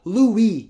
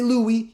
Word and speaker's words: Louis: Either way, Louis, the way it's written, you don't actually pronounce the S. It's called Louis. So you can say Louis, you can say Rui, or you can say whatever you want.